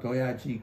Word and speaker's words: 도야지: But what's wonderful is Gyeongsangdo dialect, instead of 돼지, which is 2 syllables, the word for a pig is 도야지. 3 syllables. So 도야지 꿀꿀 소리야 이제 왔노 하노라.